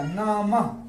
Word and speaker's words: नमः: का उच्चारण क्या होगा न प्लस म प्लस विसर्ग क्या पढ़ा जाएगा नमः नम यहां आवाज किसकी आएगी ह की ये विसर्ग के जगह पर आवाज उस साउंड क्या निकलेगा नमः नमः नमः अब ये देखिए